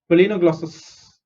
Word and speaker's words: Balanoglossus: B is B, L is lay. Okay, not la, it's lay. Lay. No is no. GLOS is gloss. SUS is sus. No glossus. Balanoglossus.